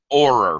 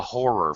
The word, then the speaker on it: horror: it's written here a horror film because we do pronounce the h in horror it would be correct